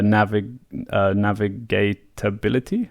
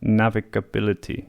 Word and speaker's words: navigability: rivers, the direction of the rivers, and the navigatability. How do you pronounce that? Navigability, yeah, of the rivers.